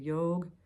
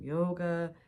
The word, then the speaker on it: yoga: words here and there we would start pronouncing the a at the end of things and yog became yoga tant became Tantra and